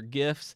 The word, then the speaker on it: GIF: the lossless ones so it is gift with a hard G that's right uncle social